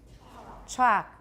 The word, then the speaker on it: chalk: how about from B chalk we don't pronounce the L there's some words from which